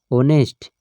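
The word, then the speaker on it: honest: ना जैसे हम देखिए क्या लिख रहे हैं ऑनेस्ट ऑनेस्ट मैन तो ऑनेस्ट ओ की ध्वनि आ रही है ठीक है ए साइलेंट है नेस्ट ओ तो ये क्या हो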